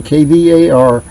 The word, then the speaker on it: KVAR: It's spelled K-V-A-R, V like in Valentine, KVAR.